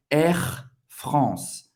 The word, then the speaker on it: Air France: France, A-N, mais uma vez, tem o som do AN. Air France. Não vai pronunciar o E no final.